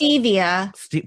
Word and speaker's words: stevia: It's stevia. Whatever. It's the hippie shit. You put the she emphasis on the uses. wrong syllable, Scott.